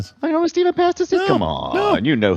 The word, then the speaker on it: Pastis: The well actually on the pronunciation TRP W Pastis is how it's pronounced. That's it's French you just don't pronounce the last syllable and just trail off like you've lost interest in the word halfway through.